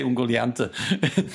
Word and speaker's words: Ungoliant: A hungry Ungoliante. I don't know how you would. Ungoliant. How do you say it? Ungoliant or Ungoliante. Ungoliant, okay. We would say Ungoliante. But Ungoliant would do too.